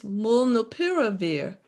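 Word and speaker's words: molnupiravir: question the name of the merc drug is mullinopiravir it is spelled m-o-l-n-u-p-i-r-a-v-i-r they can't see the chat okay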